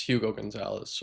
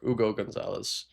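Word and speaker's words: Hugo González: For the Celtics, it's Hugo Gonzalez, or Ugo Gonzalez, I'm pretty sure is the proper pronunciation.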